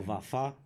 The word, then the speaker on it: Vafa: how you pronounce it? Oh, Vafa.